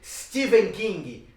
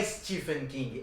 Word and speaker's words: Stephen: E aproveitando o aniversariante, faremos um episódio especial sobre Stephen King. Pra desmistificar isso, que você sua vida inteira falou o nome dele errado. Não é Stephen King, é Stephen King, apesar de se escrever com PH.